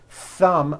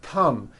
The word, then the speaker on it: thumb: So instead of saying a word like thumb, my thumb, which this is, and notice how my tongue is coming out, my thumb, you've been saying tum, my tum, or my thumb, and your tongue is not coming out. That is not correct.